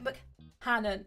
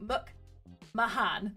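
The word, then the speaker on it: McMahan: the Creator and executive producer Mike McMahon Mike MC Hannan I always get his name wrong Muk Mahan there we go uh and Alex curtzman so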